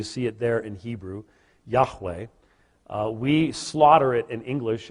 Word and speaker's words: Yahweh: four letters you see it there in Hebrew Yahweh we slaughter it in English as Jehovah that's actually a Germanic pronunciation that really isn't possible as having been